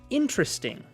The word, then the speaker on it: interesting: How interesting. Interesting. Noten que la sílaba tónica es la primera sílaba.